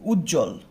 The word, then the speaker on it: উজ্জ্বল: তো এই উজ্জ্বল বানানের মধ্যে ব থাকার পরও আমরা কি করি না, বটা উচ্চারণ করি না।